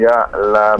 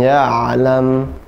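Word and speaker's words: يعلم: Insana ma lam ya'lam. Allamal insana ma lam ya'lam. Ya'lam. Huruf ain suaranya pertengahan. Ya'lam, tidak ya. Tidak ya'lam, tapi ya'lam. Ain ya'lam.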